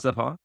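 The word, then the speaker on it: Stefon: maybe because his, Stephon Diggs, how do you pronounce his name? I read it. Stephon. Stephon?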